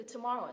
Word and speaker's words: tomorrow: này tomorrow tomorrow tomorrow Các bạn nhớ cái từ tomorrow thì có hai từ được stress cái âm thứ hai được stress chính và âm cuối cùng được stress phụ này tomorrow Ok tiếp nh